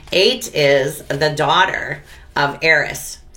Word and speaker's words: Ate: So when you see that, kind of see that imaginary, the silent H before 8. 8 is the daughter of